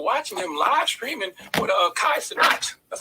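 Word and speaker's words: Kai Cenat: of people were watching him live streaming with Kai sonat That's how you pronounce his name Kai sonat right sound right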